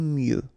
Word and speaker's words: mieux: Final X not pronounced. Aimer mieux.